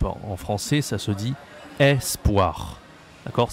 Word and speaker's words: espoir: En français, ça se dit espoir. D'accord? C'est pas E, c'est E. Espoir. Ça s'écrit avec un E. Espoir.